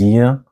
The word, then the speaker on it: 이응: And this is 이응, but it doesn't sound at the beginning of the syllable, like 아빠 and 엄마.